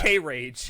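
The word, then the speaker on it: krage: K-Rage. It sounds like an actual... It sounds like a metal radio station. K-Rage. It's Korean Rage, bro.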